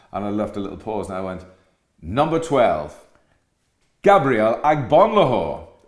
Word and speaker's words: Agbonlahor: little pause, and I went, number 12, Gabriel Agbonlahor, right? So the next thing, all the Everton fans cheer. So Gabriel Agbonlahor was going, because I pronounced it properly.